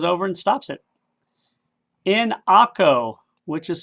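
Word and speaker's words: Acre: he just goes over and stops it in akko which is spelled a-c-r-e and what is a famous almost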